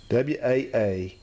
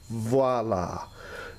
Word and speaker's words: voila: It's pronounced with a V sound because the word is actually begins with a V. It's voila, not voila.